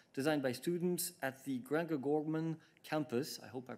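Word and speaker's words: Grangegorman: Together with Commissioner Mairead McGuinness, they will also visit several tech projects designed by students at the Grange Gorman campus. I hope I pronounced that right. No, Grange Gorman, the campus of the Technological University Dublin.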